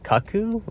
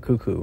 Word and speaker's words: Cuckoo: that I keep pronouncing at first when I saw I was like Kaku is that what I like you know say and and then I realized it's the bird cuckoo like the cuckoo bird